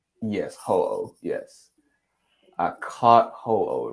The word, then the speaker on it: Ho-Oh: So I was playing Pokemon Gold, and I was able to I've never been able to pronounce that damn Pokemon's name right. It's Ho-Oh? Yes, Ho-Oh.